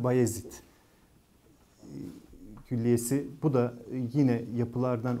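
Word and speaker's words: Bayezid: bir ismi var şimdi Amasya'daki Beyazıt Külliyesi ya da işte doğru okunuşuyla bayazit Külliyesi Bu da yine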